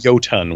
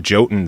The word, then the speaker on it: Jotun: that came out and go ton would be how that is pronounced I know but when I interviewed them they're like we just go with Jotun since that's how everybody else says it now so every